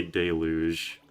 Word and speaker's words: deluge: I say deluge. I put emphasis on the first part.